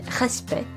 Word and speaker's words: respect: For instance, C and T are silent in respect, but P and T are pronounced in concept.